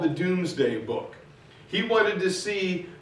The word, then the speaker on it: Domesday: And it's spelled Domesday, but it was pronounced Doomsday.